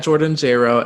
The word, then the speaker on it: Jayro: can follow me at jordanjro everywhere it's at j-o-r-d-a-n-j-a-y-r-o it rhymes with j-lo i love that i